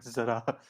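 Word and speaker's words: ज़रा: कौन हारा कौन जीता खिड़की में से देखो यारा अबे जरा it's spelled jara but zara बाहों में Hey, that has to be a Z, man.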